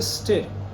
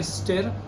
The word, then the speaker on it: stir: ये स्पेलिंग आप पढ़ के सोच रहे होगे कि इसको बोलेंगे स्टिर. बहुत से लोग बोलते भी हैं स्टिर, बट the correct pronunciation for this word is स्टर.